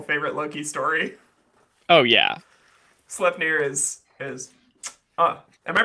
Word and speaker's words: Sleipnir: Sleipnir is am I pronouncing that right, Dad? Sleipnir? Sleipnir.